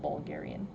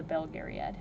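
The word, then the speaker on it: Belgariad: and then bold bulgarian i guess it's belt gary not bulgarian the name of the series is gary the belgaeriad i always pronounce it like bulgaria i don't know why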